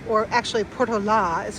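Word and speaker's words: Portolá: And it talks about the Portoa or actually Portola is how you really pronounce it expedition.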